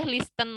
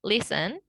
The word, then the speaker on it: listen: Nggak boleh listen lagi ya teman-teman. Kalau misalnya ada teman-teman nih yang masih bilang listen, jangan bilang listen lagi ya. Mulai sekarang bilangnya listen. Kemudian often, soften, castle, sama ballet.